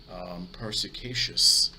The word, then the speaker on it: perspicacious: And that actual word is actually pronounced perspicacious.